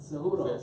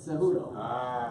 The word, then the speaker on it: Cejudo: Cejudo. Say it again, folks. Cejudo.